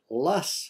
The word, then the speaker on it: Loess: here at the Refuge and I understand it's pronounced lus Bluffs like l-u-s-s so uh pardon me for